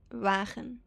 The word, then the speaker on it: wagen: Because in Dutch it would be wagen. Wagen.